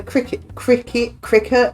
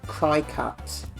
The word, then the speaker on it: Cricut: Was it your wife that's got a cricket? I don't know how you say it. Machine. How do you say that? Is it cricket? Cricut.